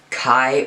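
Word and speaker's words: Kei: But there are also a subspecies of blue-tongued skink called Kai or K Island blue-tongued skinks. It's spelled K-E-I Island.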